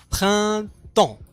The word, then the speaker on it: printemps: نعيد en printemps. اس لا تنطق.